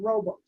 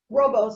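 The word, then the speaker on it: rooibos: bit fresher there's also a tea style called robux it's not really a tea it actually works into that herbal tea or uh to zane that we were talking about robos it's spelled r-o-o-i-b-o-s um the robos tea is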